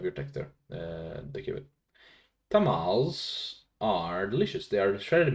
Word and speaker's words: tamales: I didn't realize you should read it in Spanish and not in like tamales, right?